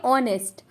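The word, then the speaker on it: honest: का मतलब ठीक है वो साइलेंट होता है यानी की छुपा होता है तो आप पढ़ेंगे ऑनेस्ट ऑनेस्ट का मतलब होता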